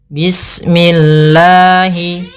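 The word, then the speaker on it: بسم الله: pada bacaan Bismillahi Bismillahi di sini ada huruf Sin yang kita sempurnakan dulu sifatnya bis kemudian Bismi minya tipis kasrah Jangan dibaca dengan memantul misalkan sini n bismillah ini memantul harusnya menyempurnakan sinnya baru langsung saja Bismillahi bismillahirrahmani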